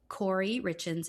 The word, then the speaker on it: Kouri Richins: Kouri Richins. It's Kouri Ricchins.